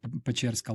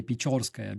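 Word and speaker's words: Печерськ: want to visit like Pecherska Lavra, they don't know how to spell it properly. That's why they say Pechorskaya, because they think that it's spelled like yo, but it's Pechersk.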